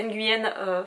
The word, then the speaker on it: Nguyen: les montagnes de euh alors je crois qu'on prononce pas le n en vietnamien mais du coup je vais le dire parce que je suis pas sûr c'est Nguyen fanem que je prononce